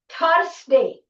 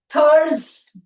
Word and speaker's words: Thursday: It is not Thursday. Many people say Thursday. It is a wrong pronunciation. It's Thursday, the sound.